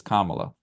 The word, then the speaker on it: Kamala: And I tell you what, it probably wasn't until this debate where it finally stuck in my head that it's Kamala. Yeah. Yeah. Like I would mispronounce it quite often because it's uncommon, but I Right.